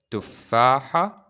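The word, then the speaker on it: تفاحة: And this seven here, we pronounce it ha. Ha. We will be talking about this later, but for now, just try to pronounce it ha. Tufaha.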